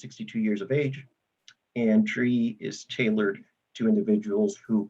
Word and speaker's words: DRIE: So the SCREE and DRE programs, right, are pretty much the same program. They're called the rent freeze programs, but they're tailored to two different constituencies. One of them is spelled SCRIE, the other one is spelled DRIE.